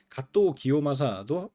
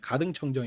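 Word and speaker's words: 加藤清正: 쳐들어왔던 장군 중에 하데 가또 기요마사 한자로 써 가지고 우리 식으로 읽으면 가등청정 이거든 가청 그래서 옛날 사람들은 국사 같은 거 배우고 할 때 그런 으로 많이 공부를 했어요 그니까 한자로 살아놓고 일본 발음으로 발음을 해 주는게 아니라 우리식 한자로 읽었다고 그다음에 어 이또 히로부미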